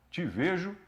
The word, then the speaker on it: TVejo: O T e o V são mudos, então o T é mudo, Te Vejo Web.